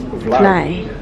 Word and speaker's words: vlaai: It's named vlaai. The vlaai shield over there left, you see how you write fly, but you pronounce it like fly from fly away, but totally different because they look to you of the Spanish.